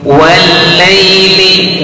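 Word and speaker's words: والليل: Wal laili wal wa tipis tarkik, depannya menghadapi lam yang bertasdid. Hati-hati, huruf lam memiliki sifat inhiraf. Apa itu inhiraf? Palingkan lidahnya. Lawan dari inhiraf adalah qalqalah, tidak boleh diqalqalahkan.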